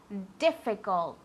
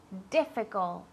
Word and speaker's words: difficult: Y aquí recordad la D y la T del final. Difficult. ¿Vale? Difficult.